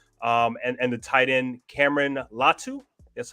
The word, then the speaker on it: Latu: And the tight end, Cameron Latu.